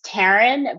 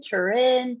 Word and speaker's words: Tarin: actually no big deal my name's taran but any way that you want to pronounce it is completely all right with me honestly like it's a two-syllable name but you have no idea how many people are like taran turin i've i've lived in